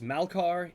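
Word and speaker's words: Malkar: The Zabra is Malcar.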